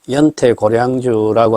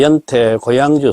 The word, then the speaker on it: 연태고양주: 전에도 제가 얘기했듯이 우리가 흔히 연태 고량주라고 하는이 수리 한자씩 바람으로 하면은 연태 고향주다라고 이야기를 했습니다.